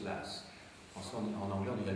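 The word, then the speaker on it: Law: s'écrit la a W en écosais ça se prononce las franç en anglais on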